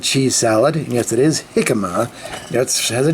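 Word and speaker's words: jícama: along those lines anyway got things like uh hikma and cheese salad yes it is hikma has a j in it but it's spelled pronounced like H and guacamole there's even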